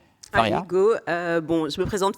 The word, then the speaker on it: Faria: Est-ce que j'ai bien prononcé votre nom ? Faria.